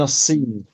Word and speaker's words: الصين: But remember the sad is a sun letter, so we don't pronounce the lam. We drop the lam in pronunciation. من السين. من الصين.